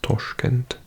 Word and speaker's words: Tashkent: I'm talking about usbekistan capital is here is Tashkent sometimes pronounced toshkent and then we've got these two little countries